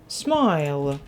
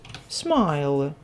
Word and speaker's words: smile: слово у нас Майк закінчується на Айк в цих словах у нас літера і остання вона не читається вона німа ось а літера ай